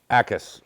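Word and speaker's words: Jacas: Gabe Ackis, right? So the J is silent.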